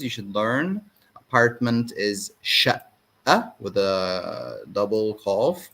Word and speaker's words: شقة: By the way, qaf in Egyptian Arabic is pronounced like Hamza most of the time, okay? But we do pronounce qaf sometimes. It depends on the word.